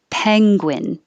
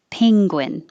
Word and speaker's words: penguin: This with two vowels, this one could be peng, as in head, peng, penguin, or ping, like ring, penguin. Or the dictionary also had penguin with no ng combination. So take your pick.